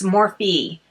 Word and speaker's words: Morphe: So, I had to look this up because I know a lot of people mispronounce this. It's not morph, it's morphe.